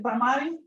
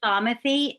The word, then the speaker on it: Bamathi: So I want to go to is it Bamati? Hi, thanks for taking my question. It's actually Bamathi. It rhymes with Bamati. Bamathi. The accents on the first Bamathi. syllable. Okay. TH.